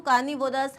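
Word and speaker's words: carnivorous: Okay, vores नहीं बोलते इसको, कार्निवोरस, हर्बीवोरस नहीं बोलते, कार्निवोरस, हर्बीवोरस, ओमनिवोरस. This is how you pronounce it.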